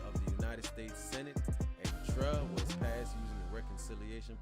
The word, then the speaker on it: EGTRRA: It's also known by its abbreviation, EGTRA, EGTRRA, pronounced EGTRA or EGTRA, and it's often referred to as one of two Bush tax cuts.